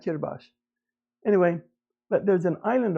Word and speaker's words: Kiribati: They say something like Kirbash.